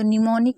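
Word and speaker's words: mnemonic: तो निमोनिक में हमने नी पढ़ा लेकिन एम को नहीं पढ़ा।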